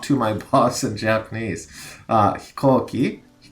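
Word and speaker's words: 飛行機: Hikoki. We have the kanji for go in there, which is being pronounced ko in this case.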